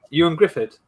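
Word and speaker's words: Ioan Gruffudd: Ewan Griffith.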